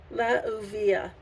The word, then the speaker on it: Leuuiah: I've got the correct pronunciation. Leuuiah.